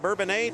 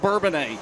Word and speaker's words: Bourbonnais: Stephen Brooks out of Bourbonnais, Tim Luttrell out of Riverton, and Tanner Sullivan out of Pontiac, Illinois.